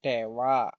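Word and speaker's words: では: H dari DH, dari DH diucapkan wa, ini wa ya. Tapi pengucapannya bukan DH tapi dewa.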